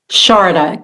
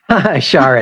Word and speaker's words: Sharada: Sharada. Kind of rhymes with, you could say Florida or Chardonnay. Sharada, got it.